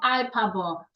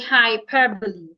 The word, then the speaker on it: hyperbole: Bang house hesitate hostile hyperbole not hyperb say hyperbole remember the silent h